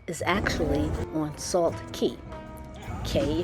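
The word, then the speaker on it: Cay: Key, if you want to pronounce it, but it's spelled c a y.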